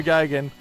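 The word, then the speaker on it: Geoghegan: Leo Gagan raced a Valiant Charger like this, but it was the E38.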